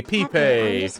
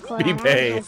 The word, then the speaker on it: Pepe: Hey, Pepe. Pepe. That's how it's said.